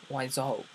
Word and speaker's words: Wiseau: and zo Ry the the Tommy why show not why as in why why would you do that to me liser why is in why why is up okay Tommy why show because show rhymes with zo and my name it's